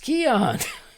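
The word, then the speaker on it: Keoghan: my fellow countryman's name barry keon is pronounced keon i i know now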